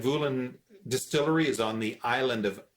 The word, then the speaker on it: Islay: distillery is on the island of isla off the west coast of scotland often mispronounced it's spelled i-s-l-a-y and it's pronounced isla not islay or anything like that